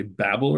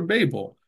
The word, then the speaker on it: Babel: Do you say Babel or Babel? And you look it up, you're going to find from Merriam-Webster online that both are acceptable, And that's how it is with a lot of things.